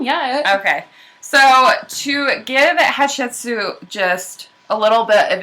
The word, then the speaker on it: Hatshepsut: Her name is Hatshepsut. All right. Can you pronounce that? Hatshepsut?